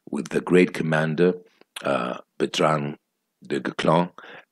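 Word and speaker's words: Bertrand du Guesclin: the great Commander uh petrang Declan uh that's how he's pronounced that checksum French YouTubers videos about him and that's how he pronounced them it's a very difficult name if you see the spelling um so Botanical clown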